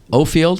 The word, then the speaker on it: Offield: And finally, in my 20s, I kind of said to myself, maybe my dad knows how to pronounce his name. So. I started introducing myself as Offield, but that kind of threw off the older people from my life.